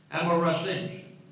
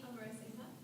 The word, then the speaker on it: Amarasinha: Next person we have is Amarasinj. Are they here? Did I pronounce that right? Close enough? It's Amarasinha.